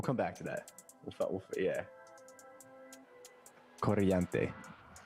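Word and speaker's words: corriente: Coriante. You gotta roll your R.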